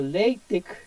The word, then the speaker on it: LaTeX: De hecho, la pronunciación sugerida es, en el contexto académico, decirlo látex, pero prefiero asociarlo más al nombre que nosotros leemos y que es más práctico para recordarlo.